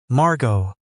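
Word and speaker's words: Margaux: Not Margo, she said. Margo. The X is silent and the distinction apparently mattered.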